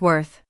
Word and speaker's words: worth: It's spelled with an O, but we don't say it with an O sound like with. Instead, we pronounce it like worth.